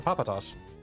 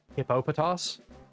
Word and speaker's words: Hippopotas: That's a Papatas. Its correct pronunciation is Hippo uh what is it? Uh Hippopotas.